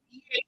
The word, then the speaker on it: eat: They don't pronounce it like a D. They pronounce it like this. Eat.